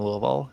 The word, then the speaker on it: Louisville: Also, as I had a friend from Louisville, and they said the correct way to pronounce it is to stuff your whole fist in your mouth and just Louisville.